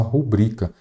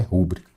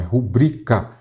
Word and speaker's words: rubrica: A maneira correta é só rubrica, embora muita gente ainda ache que o correto é rúbrica. Não, aqui nós temos o quê? A sílaba tônica é ubrica, então é rubrica e nada de rúbrica.